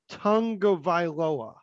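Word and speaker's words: Tagovailoa: That came out that Tua pronounces his last name Tungavailoa.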